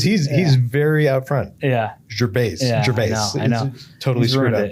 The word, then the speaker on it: Gervais: Is it Gervais, right? The S is silent.